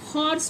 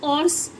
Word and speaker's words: horse: लेकिन अब आप कहेंगे कि विजिबल हो रहा है आपको, ठीक है, तो अब आप क्या कहेंगे कि HORSE, इसको तो हम हॉर्स पढ़ते हैं ना कि ऑर्स।